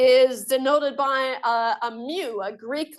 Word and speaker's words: mu: a fancy M and oops not new it's spelled m u me now the Mew